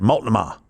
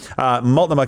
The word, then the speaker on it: Multnomah: Multnomah. Yeah, it's an Indian accent. Yeah, no, more Texan. So Multnomah County, 25,000 illegals.